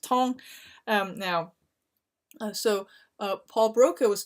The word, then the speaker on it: Tan: tall now so the in textbook it says 10 but it's actually French so it's pronounced tong now so Paul Broca